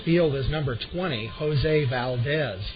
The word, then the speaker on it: Valdez: and in center field is number 20 Jose Valdez v a ldez batting second and at third